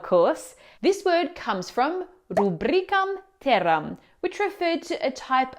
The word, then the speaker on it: rubrica: Do you say ra? Rubrica. Or is it pronounced rubric? Rubric. The correct pronunciation is rubric. Now the stress falls on the second syllable rubric and the reason goes back to its Latin roots.